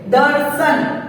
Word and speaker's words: दर्शन: दर्शन, इसमें हमने र का उच्चारण किया।